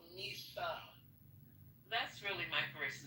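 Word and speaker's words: Mhysa: Why is it called Misa?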